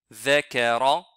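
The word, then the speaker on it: ذَكَرَ: La correction, on va voir la correction maintenant de ces deux mots-là, c'est the, zakara, et celui-là, c'est azina. Comme ça, nous avons appris la prononciation correcte de la lettre zel avec un extrait un peu rapide.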